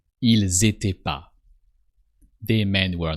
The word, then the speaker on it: ils étaient: Ils étaient pas. So don't forget to pronounce the S of il. That sounds like a Z. Ils étaient pas.